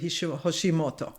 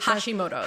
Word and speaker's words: Hashimoto's: So, I know you're a dietician, but you specifically work with people with Hish Hosimoto. Yes. Am I pronouncing it? Hashimoto's.